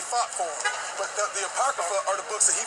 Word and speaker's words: Apocrypha: That's how you pronounce it, Apocrypha?